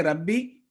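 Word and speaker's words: رَبِّ: Just remember that if there is a shadda on a letter, it will be pronounced twice, once with a sukoon and the other second with a harakat. For example, in Rabbi, if we say Rabbi, it will be 1 sound on ba, but the correct pronunciation would be Rabbi.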